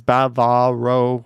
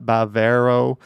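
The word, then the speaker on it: Bávaro: for your next video note the pronunciation of Bavaro Accent on the upper case there is an accent mark above the first syllable it's Baba row not Bavaro not Bavaro and by the way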